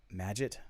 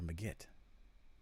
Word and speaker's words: Magit: still using legit um magit see i can't do it both i can't use the soft g with ma has to be ma magit or magit shoot magit or megit i think magitt brings